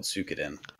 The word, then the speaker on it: Suikoden: Yeah, it's spelled Suikoden. But yeah, it's pronounced Suikoden, evidently.